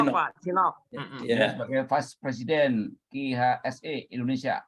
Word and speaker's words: CNOOC: 2007 di Konok CNOOC itu bacanya apa, Pak? Iya, CNOOC, Pak. China National Offshore Oil Company. Sinop, Pak. Sinop.